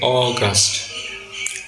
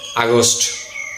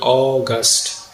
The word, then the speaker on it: August: প্রথম সিলেবলটির উচ্চারণ হবে অ, দ্বিতীয় সিলেবলটির উচ্চারণ হবে গাস্ট। দুইটি সিলেবল মিলে সঠিক উচ্চারণ হবে অগাস্ট। অগাস্ট এটি হচ্ছে একটি মাসের নাম। এই মাসের ইংরেজি নামটির আমরা অনেকেই আগস্ট বলে থাকি, বল উচ্চারণ করে থাকি।